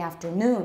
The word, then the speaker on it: afternoon: afternoon that's better so the original stress in the citation form is on noon and put that in